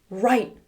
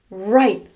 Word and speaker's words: write: "Write. Write.